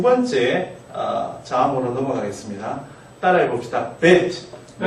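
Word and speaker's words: בית: 이 점에 대해서는 다 나중에 배우겠지만 점이 찍혀있는 벨트는 우리말 비읍하고 같이 발음하시면 됩니다. 브라고 발음하시지만 점이 없을 때는 순경은 비읍처럼 발음하면 브 이렇게. 네. bet.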